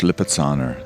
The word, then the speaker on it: Lipizzaner: It's pronounced Lipizzaner, and in better weather,